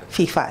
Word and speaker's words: Viva: Jadi tulisannya V tapi bacanya tetap F. Seperti kamu pakai kosmetik apa? Saya pakai kosmetik Viva, tapi tulisannya kan V. Mestinya dia menyebutnya Viva, tapi enggak kan, Viva.